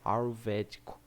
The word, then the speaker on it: ayurvédico: Mas muito antigamente lá da Índia, tinha uma coisa chamada medicina ayurvédica. Não sei se eu falei certo, mas é A-Y-U-R-V-E com acento D-I-C-O, ayurvédico. Meio difícil de falar. O Y é mudo.